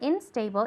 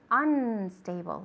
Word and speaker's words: unstable: unstable very good okay remember it's not instable it's unstable okay the third one unicorn